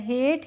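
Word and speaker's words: hate: दरवाजा और एच ए टी ई होता है हेट।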